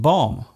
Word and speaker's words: bomb: at all for example the be in qom womb and bomb there is only one better change between these words yet they are pronounced differently other words containing silent